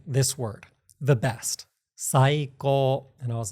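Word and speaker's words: 最高: You're saying it with the accent at the beginning. It's not saiko, it's saiko.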